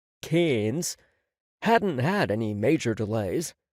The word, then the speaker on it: Cairns: The flights from New York to LA, then to Brisbane, and finally up to Cairns, which Aussies seem to pronounce Cairns, hadn't had any major delays, but he felt as though he'd been traveling for days.